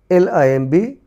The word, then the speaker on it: limb: LIMB, limb, limb, limb. THUMB, thumb, thumb, thumb. PLUMBER, plumber, plumber, plumber.